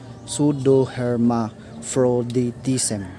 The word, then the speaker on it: pseudohermaphroditism: The last one about is the example of intersex categories is pseudohermaphroditism. That's how you pronounce it. Pseudohermaphroditism.